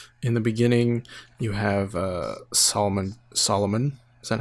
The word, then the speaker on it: Solomon: In the beginning, you have Solomon. Is that how you say it? Yeah, Solomon Grundy.